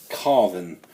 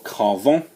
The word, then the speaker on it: Carven: time it's on the house of carven or Carver or carve in however you want to pronounce it I say carve on and this is a